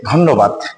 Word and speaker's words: ধন্যবাদ: ধন্যবাদ শব্দের শুদ্ধ উচ্চারণটা কি হবে? আমরা জানি ধ এর সাথে এখানে কোন কারণ নেই। তার মানে এর সাথে আছে একটা। প এর পরের বনের সাথে আছে জফলা। তাহলে হবে এর উচ্চারণটা ওকারের মত। অর্থাৎ ধকারে কি হবে? ধ। এবার এখানে আছে ন এর সাথে দফালা। তাহলে ন আসবে দুইবার।